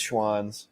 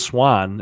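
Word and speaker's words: Schwan's: kids dude i missed schwann's yeah schwann slapped i always thought was just swan and i thought mom and dad just couldn't pronounce swan for the longest time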